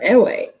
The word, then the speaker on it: Ewe: But Ewe is the native language. It's EWE is how that's spelled.